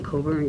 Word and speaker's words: Coburn: Coburn, D-A-W-N-C-O-B-U-R-N.